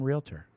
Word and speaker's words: Realtor: Why aren't you your own realtor? I don't want to be a realtor. Because because I'm a representative of the Association of Realtors, two syllables.